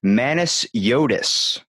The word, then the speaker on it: Manesiotis: for it okay I'm gonna make sure I pronounced your name correctly it's manis Yodas that's correct my friend BAM look at that